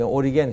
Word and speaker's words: 오리게누스: 영어 발음은 오리겐 그러는데, 오리게누스.